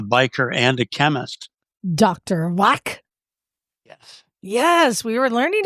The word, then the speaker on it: Wack: but Bagel, our resident German speaker, Bagel, how do you properly pronounce it? Dr. Wack. Dr. Wack.